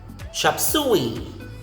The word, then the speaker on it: chop suey: Next is chop suey. Chop suey. The letter U after the S in the second syllable or the second word has the elder brother oo. So that's why you say chop suey.